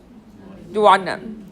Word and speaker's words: duodenum: Duodenum, or duodenum, whichever way you want to pronounce it.